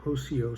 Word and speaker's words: Rossio: around and through uh rocio or hosio square it starts with an r but in portugal they pronounce it like an h so that's i'm going